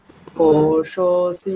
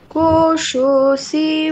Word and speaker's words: কোশোऽসি: Hawker নয়, এখানে লুপ্ত আকার আছে, লুপ্ত আকার মানে সেটা লুপ্ত, তার উচ্চারণ হবে না। কোশোऽসি মেধয়া পিহিতঃ, বলুন আবার। কোশোऽসি মেধয়া পীহিতঃ।